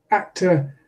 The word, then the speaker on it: actor: that's a word like actor actor has stress on the first syllable the second syllable is unstressed in its in might in my accent is simply a schwa actor in an American accent it would be a schwa with our coloring at the end actor in many students